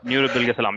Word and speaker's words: Nuri Bilge Ceylan: Nuri Bilge Salam.